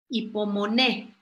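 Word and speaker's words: ὑπομονή: poquito más complicada pero es hipo monet con h y poner el acento en la el hipo monet qué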